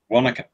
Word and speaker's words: Wanaka: Wanaka.